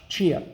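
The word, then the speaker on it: Xia: in the chinese military could be pronounced chia too in chinese but it's spelled x i a so now we go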